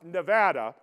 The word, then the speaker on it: Nevada: Let me be clear, Nevada, and it's pronounced Nevada, does not want to be the nation's nuclear dumping ground.